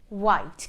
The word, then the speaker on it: white: what when when what white white can you hear the edge no because I'm not pronouncing the H I'm only pronouncing the W okay so now we're